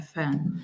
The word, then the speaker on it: fan: pay attention to is the word fan which has that a sound and we've mentioned this so many times before when you have an a sound that links with a nasal sound like n or m or ng it's gonna break into